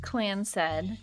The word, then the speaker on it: Clanced: Clanced, pronounced Clansed.